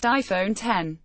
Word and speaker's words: iPhone X: Apple's new flagship phone is the iPhone X, pronounced iPhone 10.